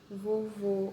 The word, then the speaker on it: vovô: aberto nem aqui você é tudo fechado você vovô a gente não abre muito a boca para falar ai que no caso